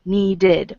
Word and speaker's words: needed: just have to look does the word end in t or d if it does you say ID needed wanted if it doesn't don't